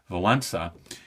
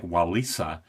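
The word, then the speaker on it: Wałęsa: government and it's led by this electrician Le Valena it looks like wallisa and I always heard it pronounced in the in the where I was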